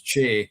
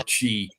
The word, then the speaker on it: Ce: It's about the North Pictish kings, and one of the sons was Che or Chi. It's spelled CE, and it's where we get the name for the hill Benahi.